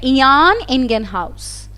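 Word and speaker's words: Jan Ingenhousz: इनका नाम था, इसका प्रोनाउंस थोड़ा इस तरीके से किया जाता है, इयान इंगेनहाउस।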